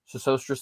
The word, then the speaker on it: Sesostris: Brother Timothy asks, is there any new evidence of Sesostris, I think is how you say this, the third? Sesostris, thank you.